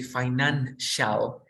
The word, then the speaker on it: financial: in this case you say financial, shall. It's not a T. Okay. Don't confuse. It's an exception. It's similar the sound, but it's different.